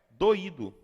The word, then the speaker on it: doído: pensem nessa palavra daqui pronuncie exatamente doido agora pronunci percebeu que mudou entendeu percebeu não é mais doido agora é doído vejam agora essa palavra